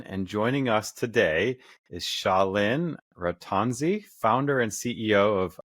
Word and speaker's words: Shaleen: the internet yeah so my name is pronounced shalin and the company is